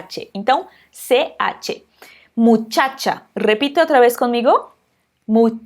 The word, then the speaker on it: muchacha: então vamos ver dois exemplos aqui com essa pronúncia o primeiro deles é a palavra mutchatcha gripe as muchacha muchacha significa garota ea que a gente tem